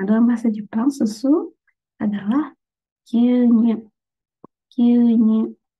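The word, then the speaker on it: 牛乳: Nah, dalam bahasa Jepang susu adalah gyunyu. Gyunyu. Jadi panjang ya dibacanya itu gyunyu.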